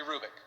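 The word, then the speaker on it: Hrubec: you h-r-u-b-e-c terry krubik the h is not pronounced terry rubick she did studies of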